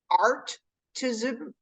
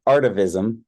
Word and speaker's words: artivism: new term which was I correct my pronunciation artism art art activism art activism or for fun artivism artivism yeah you know